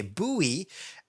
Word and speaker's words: Buoy: Buoy. Buoy. Okay, Buoy. So kind of like boo and then three E's at the end.